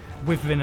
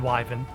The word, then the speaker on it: wyvern: make my mind up i think both pronunciations are correct with vin and wyven um wyvern ryden feels